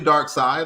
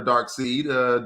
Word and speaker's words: Darkseid: Yeah, I think that's Brainiac, and that's definitely Darkseid or Darkseid, depending on who's pronouncing it, because I have heard it both ways.